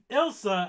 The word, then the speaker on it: Ilsa: Elsa. Yeah. So Ilsa, actually, Elsa's from Frozen. Very true. It's Ilsa, isn't it? It is Ilsa.